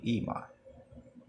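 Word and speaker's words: Emah: A Ema. Ema. How you spell it is E-M-A-H.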